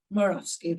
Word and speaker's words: Morawski: Nicole, I'm not even going to try and pronounce your last name because I always pronounce it wrong. Morawski? Morawski, there you go.